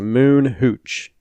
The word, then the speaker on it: Moon Hooch: shows ever that's a moon Hooch exactly how it sounds as how it's spelled cool just YouTube their